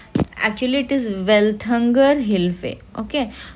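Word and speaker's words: Welthungerhilfe: ठीक है, actually it इज़ वेल्थंगर हिल्फे। Okay, तो एक होता है वेल्थंगर हिल्फे बोलते हैं, यहाँ पे स्पेलिंग मिस्टेक है।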